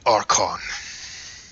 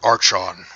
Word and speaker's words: archon: I'm what they call an archon, or an archon, whichever pronunciation you wish.